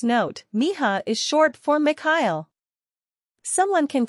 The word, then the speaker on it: Mikhail: Translator's note, Miha is short for Mikhail. Someone can correct me if I'm wrong, but I believe it's a Russian name and the K is silent.